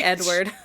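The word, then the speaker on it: Eadweard: meets a guy named Edward listen it's spelled e a d w a r d so Edward mybridge say Edward I'm doing my best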